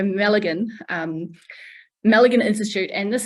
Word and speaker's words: Malaghan: the Mulligan Institute and some people say melee can um it's a silent G so Mulligan um Mulligan Institute and